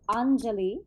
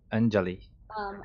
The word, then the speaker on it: Anjali: tricky for a lot of people so it's Anjali Anjali I like to tell people it sounds like